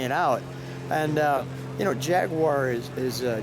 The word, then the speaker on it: Jaguar: And you know, Jaguar is Jaguar.